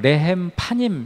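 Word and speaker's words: לחם פנים: 근데 이제이 진설병이라는 것 히브리어로는 어 레헴 파임 이렇게 이제 발음을 하는데 레은 떡이라는 이제 말이고 파님은 얼굴이라는 뜻이에요.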